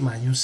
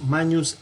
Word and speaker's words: magnus: Nilus fluvius magnus est. Ojo, la G y la N en latín se pronuncian como una ñ.